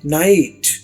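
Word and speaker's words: knight: नाइट लेकिन मतलब है इसका जंग जंग लड़ने वाला तो नाइट में के नहीं है।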